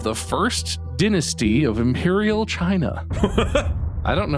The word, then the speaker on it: Qin: it ching with a Q yes it's the Chin Dynasty oh oh good I will have you